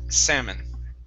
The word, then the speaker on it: salmon: here instead of salmon the l is silent salmon salmon okay yeah everything